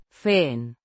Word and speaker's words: fin: An adverb meaning finally or at last, pronounced Feen.